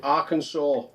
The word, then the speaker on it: Arkansas: No, Arkansas. They don't pronounce it like that, do they? They pronounce it Arkansas.